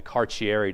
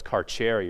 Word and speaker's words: Carcieri: And they call it the Carcieri decision. People who are from Rhode Island say, no, it's Carcieri, you're saying it wrong, but I kind of was one of the early adopters and called it Carcieri because I don't know how otherwise to say it.